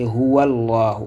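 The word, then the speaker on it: هُوَ اللَّهُ: Maintenant ici, on peut faire une liaison. Raison pour laquelle on a une nouvelle prononciation, une nouvelle manière de lire. C'est Huwallahu. On va lier, c'est-à-dire la liaison qui existe ici, qui va permettre de faire la liaison Huwallahu.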